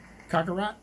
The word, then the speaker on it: Kakarot: Not a cockroach. Kakarot.